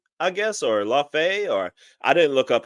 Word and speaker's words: Laufey: Her name is Laufey, I guess, or Laufey, or I didn't look up how to pronounce it.